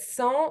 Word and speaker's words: sang: We don't pronounce the G, the J at the end. Sang sounds the same as cent, C-E-N-T, which means 100 in French.